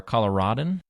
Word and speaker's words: Coloradan: Apparently, you can say it both ways: Coloradoan or a Coloradan.